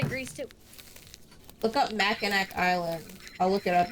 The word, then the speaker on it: Mackinac: The C is pronounced as a W because it's French. Mackinac.